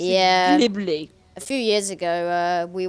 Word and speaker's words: Ghibli: Ghibli. A few years ago, we were talking about that car, and you can't spell it.